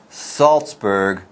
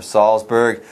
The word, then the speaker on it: Salzburg: it's Mozart and Saltzburg sometimes you want to pronounce that Z softly and maybe see Mozart or Salzburg don't make that mistake Mozart and Salzburg between day one and